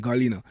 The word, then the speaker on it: Garlino: And sometimes, even as Garlina was saying, Garlino, yeah, she told me this pronunciation, Garlino, that there's a responsibility that parents have, right?